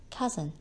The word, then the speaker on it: cousin: your auntie and uncle don't pronounce the word as to see it is cousin word number nine is